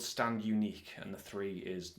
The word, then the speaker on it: Stand Uniqu3: not pronounced uh because the three is in place of the letter e I'm assuming it's not stand uni Q3 uh cuz that would be quite weird um but yeah so